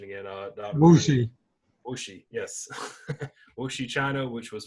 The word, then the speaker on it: Wuxi: This is, correct me if I'm wrong on my pronunciation again. Wuxi. Wuxi, yes.